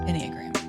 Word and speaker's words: Enneagram: Enneagram.